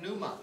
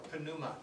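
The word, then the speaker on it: pneuma: demands of the context the word Numa or Puma has a silent P at the beginning that's the Greek word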